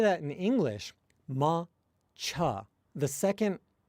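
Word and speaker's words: 抹茶: English, ma-cha, the second rather than saying that as cha, like you would say it in Japanese, you say cha, cha. The vowel is reduced if you say it with bad pronunciation.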